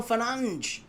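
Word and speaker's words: Fernandes: Bruno Fernanch. That's how he pronounces it.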